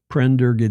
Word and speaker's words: Prendergast: Prendergast, did I pronounce that right? Yes, you did.